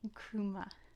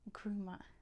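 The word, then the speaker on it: Nkrumah: k w m e Kuma is n KR u m a quame grops h quame Kuma so you barely pronounce that n it is there you have to almost not say it quame Kuma quame Kuma very important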